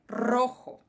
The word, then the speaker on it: rojo: de novo no Rojo apesar de ser um R só no início da palavra nós pronunciamos ele com um pouquinho de puxadinha então então o vermelho é Rojo certo mais uma palavrinha